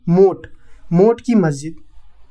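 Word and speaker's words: मोठ की मस्जिद: मोत लिखा है लेकिन इसका हिंदी प्रोनाउंसिएशन है मोट की मस्जिद।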